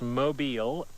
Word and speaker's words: mobile: Mobile pronounced that way. Long O, long E.